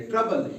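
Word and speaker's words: trouble: ट्रोबल इसलिए नहीं बना क्योंकि ओ यू की कॉम्बिनेशन है यहां। ठीक है? यहां किसका मिलाप है? ओ यू का मिलाप है। इसलिए यहां ये ओ जो है ये साइलेंट रहता है। सिर्फ यू की आवाज निकाली जाती है। ट्रबल यू अ की आवाज देता है यू यू। ट्रबल।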